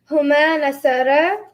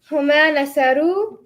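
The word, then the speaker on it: هما نصرا: Huwa nasara, huma nasara. Nasara. Huma nasara, hum nasaru. Good. One more time. Huwa nasara, huma nasaru. Huma is not nasaru. Huma rhymes with the word that you say after it.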